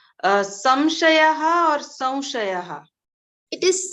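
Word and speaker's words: संशयः: after sa, we have to pronounce like Va Anunasik. So Va Anunasik is something like we have I think we have Haland under the Va, and also we have the Matra. So it will like Samshayaha. It should be pronounced as Samshayaha, not Samshayaha. Samshayaha.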